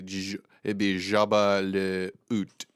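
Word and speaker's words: Jabba le Hutt: Jabba, well, they can't pronounce the H, so it'd be Jabba le Oot, which That's kind of funny.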